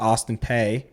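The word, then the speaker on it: Austin Peay: He was the head coach at Austin P in the FCS the school. Y is silent.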